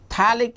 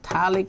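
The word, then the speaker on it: phthalic: anyone is giving you talic acid talic acid is this compound this compound is known as talic acid now here p is silent this is your thallic acid now my dear stud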